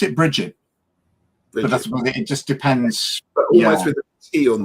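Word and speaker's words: Brigid: it almost like a it's got a soft G on the end yeah um and Peter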